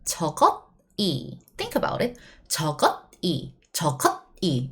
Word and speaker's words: 저것이: No, we write it down that way, yes. However, we pronounce it much smoother. 저것이. This bottom consonant travels next. So that 저것이. That's how you need to pronounce.